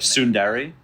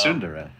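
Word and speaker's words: tsundere: u n d e r e it's like sundari sundari like like evil anime girls yeah yeah that's how you say it's no way maybe in Japanese but it's sundara yeah uh do you have ratings where it's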